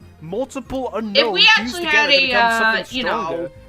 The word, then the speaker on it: Unown: Apparently, the official pronunciation of its name is Unown.